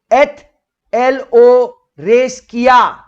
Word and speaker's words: ethelothreskeia: Now here the word worship is pronounced as ETHELOTHRESKEIA.